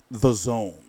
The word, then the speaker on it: DAZN: a look around the it's called the zone but they spell it Daz and from now on